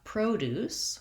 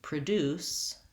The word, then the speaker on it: produce: versus I'm going to present some information, second syllable stress, that's the verb. Or similarly, I have produce, which is fruits and vegetables at the grocery store, but I produce videos to teach you about pronunciation.